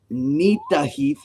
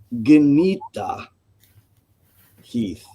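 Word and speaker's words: Gnitaheiðr: the beginning, it says Nita Heath. I would normally silence the G, but I've come to understand that it was actually pronounced. So it would be Genita Heath.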